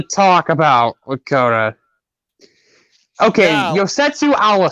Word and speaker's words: Yosetsu: there's something to talk about with koda okay yosetsu allah say the welder thank you thank you for pronouncing his name because i didn't know how